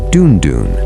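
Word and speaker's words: dùndún: The Yoraba have a special drum called the dunon that is spelled du n du n and it means sweet sound in the Yoraba language.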